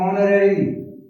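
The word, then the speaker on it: honorary: अभी देखो ऑनररी, ओ, H silent है तो यहाँ पे भी N।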